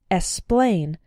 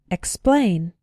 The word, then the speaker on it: explain: x is pronouned pronounced be careful in words like explain to include the k sound sometimes students pronounce it like esplain but that's not correct it should be expain explain the other way to